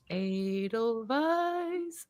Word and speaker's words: Edelweiss: I say it like the song, you know, from The Sound of Music. Edelweiss, Edelweiss.